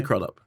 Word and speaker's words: Crudup: you were called Billy crudup would you think you might have changed your name am I pronouncing that correctly yeah it's like Arthur crudup is it yeah I've got